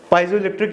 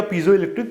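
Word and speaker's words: piezoelectric: पाइजो इलेक्ट्रिक substance है, पाइजो इलेक्ट्रिक या पीजो इलेक्ट्रिक दोनों प्रोनाउंसिएशन सही है इसकी।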